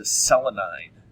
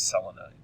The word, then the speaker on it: selenide: Selenium is actually the one that changes the way it's pronounced, changes its pronunciation, and it goes from selenium to selenide. It's spelled the same. You know, it's Selenide. So it doesn't change any spelling in the root. It just changes the root pronunciation, so it's selenide.